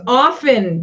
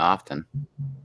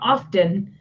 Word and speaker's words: often: Because we have it's often. The T is silent. Yeah, often. No, often. Often. No, the T is silent. It's not often. It's often.